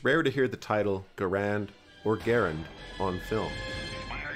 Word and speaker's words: Garand: Though both pronunciations are common and accepted, Garand is considered the correct way to pronounce the designer's name.